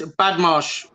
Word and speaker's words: Badmarsh: It's Badmarsh. It's two Badmarsh. syllables. How you doing, Badmarsh? Badmarsh, 2 syllables.